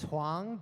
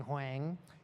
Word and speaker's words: Huang: So my last name is Huang, but the way it's spelled, a lot of people end up saying Huang.